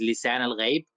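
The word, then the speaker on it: Lisan al-Gaib: Actually, this word is actually an Arabic word. It is lisan al ghaib. When you like pronounce it right, it is lisan al ghaib, which means uh, the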